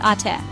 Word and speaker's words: ate: An older sister is eight. That's pronounced ae.